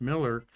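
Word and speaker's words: Mueller: a bureaucratic uh person spelled mue l but pronounced Miller.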